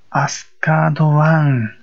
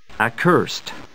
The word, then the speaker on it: Accursed: 正確には、 accursed という発音で、accursed one というふうに呼ぶのが正しい名前のようです。